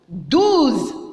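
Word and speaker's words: douze: 12.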